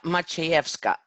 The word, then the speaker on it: Maciejewska: do you say your last name it's much he F Scott my so Scott yeah you know I've I